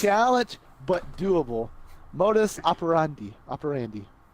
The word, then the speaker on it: modus operandi: Modus operandi. I think you're right. It's like operations and Andy. Modus operandi. We're gonna pretend that's how you pronounce it.